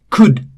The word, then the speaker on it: could: again L is silent could again L is silent.